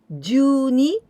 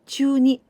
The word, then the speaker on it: 中に: course of this month sometimes we pronounce juni instead of chuni for example kyo juni